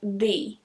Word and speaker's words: the: So it sounds something like the. The. But be careful not to press too hard, otherwise it's going to sound like the, and that's not right.